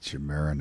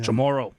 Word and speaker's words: Chamorro: Chamoran. I've been waiting for it. Yeah. Chamorro.